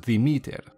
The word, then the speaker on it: Demeter: Demeter in Greek is pronounced Demeter, with the emphasis placed on the second E and the me in meter.